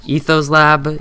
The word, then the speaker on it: Ethos Lab: from is either uh Ethos Lab e t h o s l a b like ethos slab and then you can also look at direwolf 20.